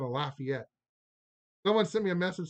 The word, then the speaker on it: Lafayette: I know in French it's Lafayette, but we don't say that here. We say Lafayette.